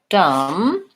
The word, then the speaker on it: dumb: the word for example the words comb and dumb just have the M sound at the end so the B is silent there's no be there